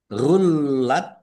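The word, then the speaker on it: غلت: Gullat. Lamnya dibaca dobel, ada tasdidnya. Nah, huruf yang bertasdid itu membacanya ditekan dan ditahan. Ya, ditekan dan ditahan biar tampak dobelnya.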